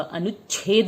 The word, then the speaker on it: अनुच्छेद: अनुच्छेद, देखिए च और छ को एक साथ बोला जाएगा और छेद नहीं होगा, अनुच्छेद बोला जाएगा, क्योंकि इसमें हम छ पे थोड़ी देर के लिए रुकेंगे। अनुच्छेद नहीं बोलेंगे, अनुच्छेद बोलेंगे।